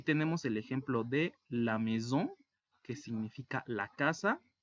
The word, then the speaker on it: maison: Recordemos que la unión de las vocales A y se pronuncia E, y la S entre dos vocales se pronuncia como una Z, como un zumbido. Z. Y la ON se pronuncia como una O gangosa u O nasal. On. Ahora, la S al final, en el plural de casas, no se pronuncia.